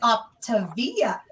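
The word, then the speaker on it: Optavia: i was like it looks like it says up to via and i was like oh my god is that how it's pronounced i was like why does it look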